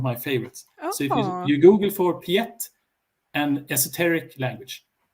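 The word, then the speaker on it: Piet: it you can google for a language called piatt which is one of my favorites you google for piatt and esoteric language how do you spell that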